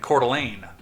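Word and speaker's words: Coeur d'Alene: after arriving at the first NCAA tournament in cordelane the only reason I know how to pronounce that is because of Beauty in the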